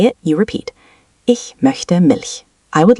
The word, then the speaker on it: Milch: Ich möchte Milch. I would like milk. Focus on the soft ch in ich and Milch.